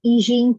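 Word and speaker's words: Yixing: This is old as it is pronounced as an Yijing teapot. I think that's how they pronounce it, Yijing teapot.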